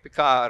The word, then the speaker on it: Picard: same people of course you don't pronounce the d at all the name the icard